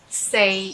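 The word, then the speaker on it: 四: they are in cantonese the number four say sounds very similar to say that say and stay therefore this number is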